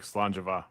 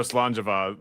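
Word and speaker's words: Sláinte mhath: Oh yeah, like Slanjava, right? Or is that Scottish? Sure. I know Slanjava that you use an H for a V sound.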